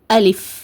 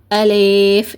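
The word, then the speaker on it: ألف: என்ன இருக்குது ஃ இப் அலிப் ஓகேவா அலிப் இந்த மாதிரிதான் உச்சரிக்கணும். என்ன தவறு செய்வாங்கன்னா அலிப் லீனு நீட்டி ஓதுவாங்க. லீனு நீட்டி ஓதக்கூடாது. இங்க லீ மட்டும்தான் இருக்குது. ஓகேவா அதனால அலிப் இந்த மாதிரிதான் உச்சரிக்கணும்.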